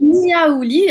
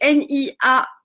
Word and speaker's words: Niaouli: Niaouli, alors vraiment comme ça se prononce, c'est Niaouli, vraiment.